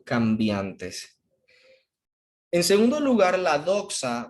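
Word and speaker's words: δόξα: y esta palabrita griega que está aquí se pronuncia doxa dice que depende de las informaciones del mundo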